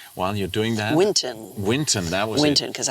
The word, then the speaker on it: Winton: it it was like Hinton while you're doing that Winton Winton that was Winton because I wanted to call it Winston but it's winter it's a Winton yeah and then and